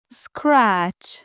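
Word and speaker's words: scratch: زدن وسل وسل وسل اسکرچ اسکرچ یعنی خاروندن قسمتی از بدن یا خراشیدن چیزی تو این فعل هم حرف تی رو تلفظ نمی‌کنیم اسکرچ اسکراچ لیفت لیفت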